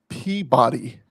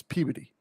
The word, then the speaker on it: Peabody: he's a captain at Peabody, Massachusetts. And he spent his entire months with us correcting people because it's Peabody. It's not Peabody, it's Peabody. It's spelled Peabody, but it's Peabody.